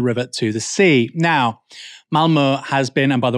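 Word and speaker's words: Malmö: and from The River To The Sea now Malmo has been and by the way that is how you pronounce it has been the site of several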